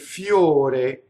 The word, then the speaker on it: fior: Now in this case, the full word is fiore, and to be poetic, they want one syllable, so they cut off the last syllable. And now the R rolls because it touches the next word, the M, right? So it's going to be fior.